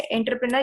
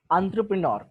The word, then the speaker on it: entrepreneur: Pronounce करते थे, मतलब सही प्रोनाउंसिएशन क्या है, एंटरप्रेनर या एंटरप्रेनर? दोनों भी नहीं, एंटरप्रेन्योर, एंटरप्रेन्योर, ठीक है। एंटरप्रेन्योर इज the correct pronunciation, ठीक है, प्रोनाउंसिएशन, यस।